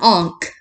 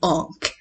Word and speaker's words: ankh: This is an Ankh. Now, it's spelled out A-N-K-H. It's not Ankh. It's not Ankh. It's Ankh. And that's how the Egyptians pronounce it.